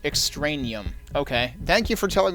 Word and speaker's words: Extraneum: a security guard for top-secret Project Extraneum, pronounced Extraneum.